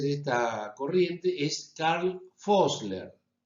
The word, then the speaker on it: Vossler: Uno de los más importantes autores de esta corriente es Karl Vossler. Se escribe con B corta, pero los alemanes pronuncian como una especie de F.